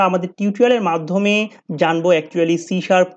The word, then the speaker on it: C#: এরপরে বলছে এটা প্রোনাউন্স হয় সি শার্প নামে, সি হ্যাজকে আমরা সি শার্প বলে থাকি।